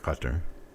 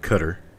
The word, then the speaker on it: Qatar: use you know like qatar qatar is the name of the country it's a guttural k it is not cutter but we insist on